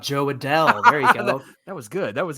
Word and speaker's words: Adell: a bell let's see oh rhymes with bell how about Joe Adele there you go that